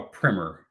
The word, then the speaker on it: primer: your veteran a primer as I understand it that's how you pronounce it when you're talking about an education book and not um a small piece of explosive to set off a larger explosive charge which is where I